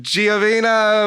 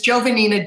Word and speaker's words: Giovannina: uh hello actually it i'll let you in on a secret that really my name is jovannina jennifer is my middle